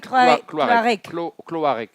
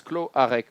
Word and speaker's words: Cloarec: How do you pronounce Irwin's name? Please help us. Irwin. Irwin Cloarec. Cloarec. Yeah, this Cloarec, fast. Cloarec. Almost like the A is not very, it's almost silent.